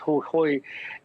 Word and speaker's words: Jujuy: Our story takes a look at a very remote province of Argentina, pronounced Jujuy, and we're seeing massive solar panels and mining projects to extract lithium.